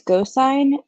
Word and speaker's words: Gosine: It's Gosine. It's Gosine, or it's spelled like cosine, the trigonometric function with a G.